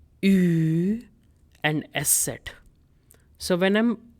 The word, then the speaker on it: ü: U with umlauts, its pronunciation is Ü. Ü. Now for that, you can take the English word huge, huge, and drop H and GE. You'll be left with the sound of Ü sound.